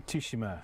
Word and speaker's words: Tsushima: See, Tsushima.